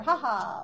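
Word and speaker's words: 哈哈: Only in Chinese, be careful to say it in the first tone. Ha ha, not ha ha, or ha ha, or whatever. I mean, technically you could say it that way, but the accurate way to pronounce the words that you see on the screen is ha ha, first tone.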